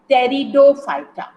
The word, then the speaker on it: Pteridophyta: And there comes the third class of plants, that is Pteridophyta. Here P is silent, Pteridophyta.